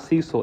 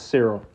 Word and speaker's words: Cyril: I just noticed I've been saying this person's name wrong, but it's not Cecil, it's Cyril.